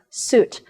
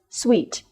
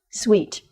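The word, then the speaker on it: suite: think as pronunciation is suit but it is pronounced as sweet sweet two vowel change land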